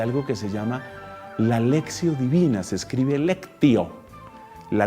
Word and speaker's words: lectio: la práctica de algo que se llama la lexio divina se escribe lectio la lectio divina en muchas parroquias en muchos lugares se está trabajando la lectio pero se pronuncia lexio lexio divina y a través de la lexio